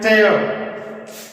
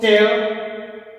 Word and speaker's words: tear: देखिए एक चीज और बता दूं मैं आपको, जब इसको नाउन में पढ़ते हैं तो उसका प्रोनाउंसिएशन होता है चीयर, जब इसको वर्ब में पढ़ते हैं चीयर को तो उसका प्रोनाउंसिएशन होता है टेयर, टेयर, वर्ब टेयर, नाउन टीयर।